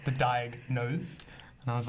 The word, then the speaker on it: Diagnose: So maybe you can tell us a little bit about, is it Diagnose?